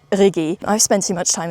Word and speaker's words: Rigi: that I was climbing, I said Rigi, which is the most English pronunciation. It's obviously, I think, called Rigi.